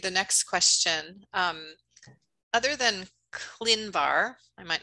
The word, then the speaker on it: ClinVar: So the first question is, you, by the way, Jody, you pronounce it very exactly. This is ClinVar.